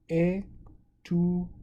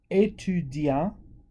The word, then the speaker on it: étudiant: If it's female, un étudiante. So because we're adding another vowel at the end with the female form, we can pronounce the T. So un étudiant.